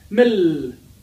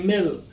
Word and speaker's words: milk: and I would say mill. Do you like mill? I don't understand, right? Unless you would say, do you like milk, milk, milk? So please pronounce the last letters.